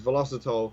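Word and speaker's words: Velositol: And over the past year or so, you might have seen an ingredient called, I think it's pronounced as velocitol.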